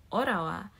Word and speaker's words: Ottawa: swallow some words like you don't say Ottawa but you say orawa like they're not gonna pronounce some of the t's yeah yeah so the